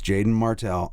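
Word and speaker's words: Jaeden Martell: think I I really like uh Is it Jaden Martell? Yeah, it's spelled a little strangely. It's Jaden. Yeah, it's Jaden Martell.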